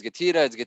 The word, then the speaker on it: GETIDA: you know how do you say it it's getting it doesn't really matter it's just an acronym